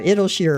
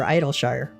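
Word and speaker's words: Idyllshire: So people pronounce Idolshshire either idolshere or idolshshire which is fine you know go with what you want.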